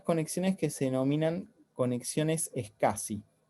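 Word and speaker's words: SCSI: que se denominan conexiones escassi o interfaces es casi que se escribe o se pronuncia es casi pero se escribe así s c c s c s y esta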